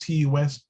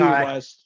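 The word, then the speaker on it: Ti West: I still don't know how to pronounce his name. Is it Ty West? T West? T. I say It's T Ty. West.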